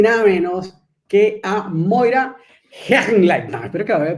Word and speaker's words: Hechenleitner: nada más y nada menos que a Moira Hergenlein. No, espero que haya pronunciado bien ese apellido.